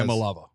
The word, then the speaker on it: Iamaleava: I think it's Iamaleava. Okay. It might be Iamaleava. Might be Iamaleava, but it's Malava is the end.